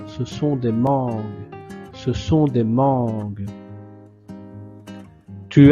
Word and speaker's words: mangues: Donc le G et le U, vous prononcez G. Mais sans prononcer le E à la fin. Ce sont des mangues.